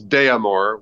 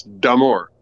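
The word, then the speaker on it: d'Amour: D'Amore, and it's, I usually hear it as D'Amore, which there's D apostrophe, which means it's D'Amore.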